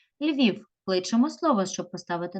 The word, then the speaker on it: Львів: Київ наголос падає на перший склад на і Львів кличемо слово щоб поставити наголос Львів Львів наголос знову падає На іта